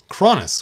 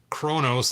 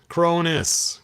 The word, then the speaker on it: Kronis: kronis there we go soone said it's not Kronos that's the that's the um Titan this is cron cronis cronis cronis there we go I think I said it right and I don't have